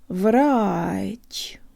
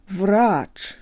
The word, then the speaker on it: врач: this word down now the last subtlety is in the chia-chia is always soft so the tongue rises to a high position inside the mouth to pronounce it if I slow it way down you can hear the rise at the very end Viraj right without the subtle rise it sounds Western Rock so commit to putting